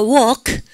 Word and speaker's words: walk: 발음하니까 walk.